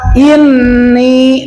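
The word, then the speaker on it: إني: Hamzah itu dari aqso halqi, tenggorokan. Maka, mulutnya dibuka. Ya, jangan i, i, begitu ya. kalau i, i berarti dari tengah lidah salah tempat. I, suaranya, i, digetukan jangan i.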